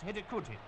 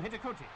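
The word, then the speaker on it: Hidegkuti: The scorer's name is pronounced Hidikuti, I hope. The Olympic champions now started an absolute orgy of scoring. Their second came through Hidikuti.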